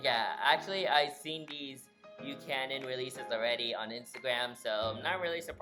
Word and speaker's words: Buchanan: there and of course I think I'm pronouncing this correctly this time Buchanan models this time so I think it went out says view Canon models I know I said butcher net models but I think the real pronunciation is Buchanan so nice that I'm